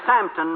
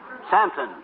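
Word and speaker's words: Southampton: then a train to samton maybe uh uh samton s o u t h h a m p t o n santon yes and then a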